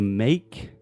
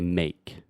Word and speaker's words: make: So the E is silent. So just think the A sound, just like they. So you say make.